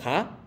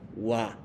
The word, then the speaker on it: は: Esta función de partícula wa, aunque escribimos ha, cuando escribimos partícula wa y que acompañando al sujeto, entonces siempre cambia la pronunciación, es no ha, sino wa.